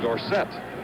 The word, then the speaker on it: Dorsett: and West Dorset recently Tony says we should pronounce his name Dorsett however too many people know it the other way Crispin time to change it too late his parents know it Dorsett 35 now for Penn